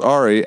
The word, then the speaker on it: Ari: It's pronounced Ari.